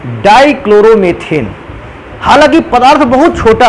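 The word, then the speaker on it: dichloromethane: अगला कंपाउंड लिखा है बेटा डाइक्लोरोमेथेन। अंग्रेजी में भी बेटा इसको डाइक्लोरोमेथेन ही को कहते हैं। हाँ, ये हो सकता है कि उच्चारण के दौरान डाइक्लोरोमीथेन भी बोला जा सकता है इसको।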